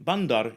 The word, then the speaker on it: bandar: a fort in Indonesian bandar is usually a port or a water Channel rather than a city notice that the final R is silent in many accents including the mainstream Johor